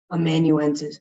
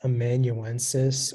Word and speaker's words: amanuensis: Amanuensis. May I have all the information, please? The word can be pronounced amanuensis or amanuensis.